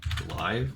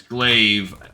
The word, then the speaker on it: glaive: figure it out pronounce let's pronounce GL or glaive oh it's glaive it just makes sense